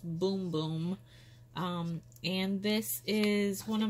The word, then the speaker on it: Bum Bum: Brazilian boom boom cream I know it looks like it says bum bum but it's pronounced boom boom and this is one